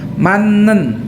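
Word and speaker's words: 맞는: Gerim itu gambar, e-nya pada gambar, manen mata itu benar ya. Tapi bacanya manen ya. J-nya ini dibaca N ya, karena dia bertemu dengan konsonan N. Jadi bacanya manen ya.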